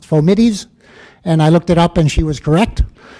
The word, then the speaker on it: fomites: Every medical student learns to pronounce this fomites, but a few years ago a student in this class told me the word is in fact pronounced fomites, and I looked it up and she was correct.